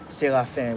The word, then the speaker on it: Serafin: Serafin or Dr. Serafin? Yeah, actually that is the proper pronunciation. It's a Haitian name, so Serafin would be like the French basis of it.